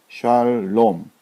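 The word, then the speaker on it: שלום: 모음 부호를 붙이자면 자 요렇게 됩니다 렇게 해서 샬롬 자 이렇게 읽으시면 됩니다 샬 자 보면 요게 지금 아 발음이고 자 이것이 이제 의에 해당된다 그랬죠 자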